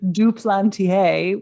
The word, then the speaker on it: Duplantier: name so is it duplantier or duplantier you're close i'm um i'm a duplantier through marriage it's a french name so it's yes yes sally duplantier welcome to better than